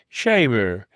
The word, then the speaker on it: shaver: the early Cornish oven, has become shaver, to rhyme with diver.